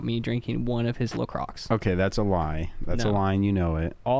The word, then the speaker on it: LaCroix: First of all, it's pronounced LaCroix.